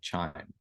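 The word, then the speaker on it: QIIME: a computational tool called chime so spelled Qi i m but pronounced chime like a windchime uh this is a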